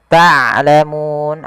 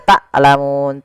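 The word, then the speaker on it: تعلمون: Ta'lamun ain hati-hati jangan dibaca taklamun. Taklamun ini sering terjadi mengganti huruf ain dengan huruf hamzah.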